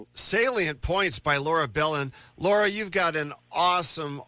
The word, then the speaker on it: Belin: And I also have a free email newsletter that's called Iowa politics with Laura Belin. And Belin is spelled b e l i n.